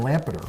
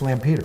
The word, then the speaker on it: Lampeter: railhead is that right I was saying Lampard its Lampeter plant Peter and Peter they're number six and